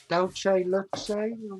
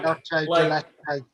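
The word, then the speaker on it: dulce de leche: Dolce leche? Oh, dolce de leche? That's dolce de leche.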